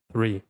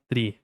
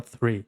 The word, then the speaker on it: three: penso, você já segura, você já segura a língua entre os dentes. Então você fala three, three. Você não fala tre, th, você fala three, ok?